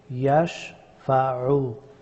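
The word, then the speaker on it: يشفع: ইয়াশফাউ, আইন হরফটি গলার মধ্যখান থেকে উচ্চারিত হয়।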